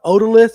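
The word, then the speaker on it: otolith: A odalith. Is that how you say it? Yeah. Oolith.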